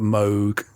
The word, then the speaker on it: Moog: So I guess you had uh BLA was based in the west coast and you had Robert Moog uh which is the correct way of pronouncing it.